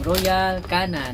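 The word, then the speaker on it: Royal Canin: mga alagang pusa itong Royal Canon. Ayan. So royal canon no anong pronunciation niya? Siguro nanibago kayo kung first time niyong marinig yun. Ang pronunciation pala niyan ay royal can ' ba nakakatawa.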